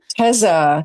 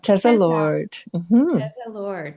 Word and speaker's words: Teza Lord: Tza. Tesa Lord. Tesla Lord.